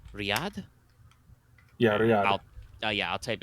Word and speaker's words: Riyadh: are there are red sands in is that pronounced riyadh yeah yeah yeah i'll type it for you